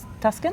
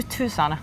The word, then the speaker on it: Tucson: to because you come from the US from Tuscan to Tucson I didn't know how to pronounce it would be really nice if I